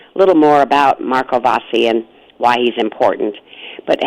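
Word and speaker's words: Vassi: we have because we spoke about Marco bossy bossy am i pronouncing his last name right yes that's right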